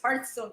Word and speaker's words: Hearthstone: I mean, if you Google how to pronounce it, it's Hearthstone because hearth is a fireplace.